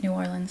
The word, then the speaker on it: New Orleans: And I know you love New Orleans. I love New Orleans. Okay, you say New Orleans. I don't know if you say New Orleans. It's New Orleans.